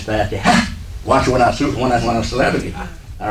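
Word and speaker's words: فاتحة: Most of us don't say it right. We just say Fatiha. It's not Fatiha, it's Fatiha.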